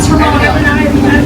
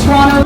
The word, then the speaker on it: Toronto: So notice how I say Toronto. Toronto. Toronto. Exactly. So we pronounce the T in the middle of Toronto.